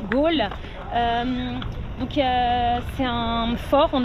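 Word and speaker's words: Galle: Ils prononcent la ville de Gal, Gaul.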